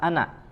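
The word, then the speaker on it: أَنَا: Setiap kata ana ya kita lihat tandanya di alif pada kata ana itu ada tanda sifar ya, ada tanda sifar ya, menandakan bahwa alifnya di situ dianggap tidak ada ya, dianggap tidak ada atau ditiadakan sehingga dibacanya pendek ya, ada tanda sifar di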